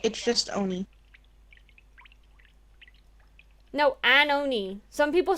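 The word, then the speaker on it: 鬼: Well, it's pronounced as Ione, I Oni. guess. It's just Oni. No, Anoni. Some people say Ione when they say that. O-N-I?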